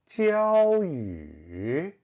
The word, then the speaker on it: Jiaoyu: The pronunciation of my name, Jiaoyu, is usually not a problem. But if you see the pinyin, the J can lead many people to pronounce jiao like yao.